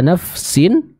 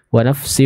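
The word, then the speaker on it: نفس: ketemu dengan kata Uwa nafsin nah nafsin di sana cara membacanya adalah kita sempurna nufa yang syukurnya terlebih dahulu sebelum kita pindah ke huruf Sin 6 biasanya saya sering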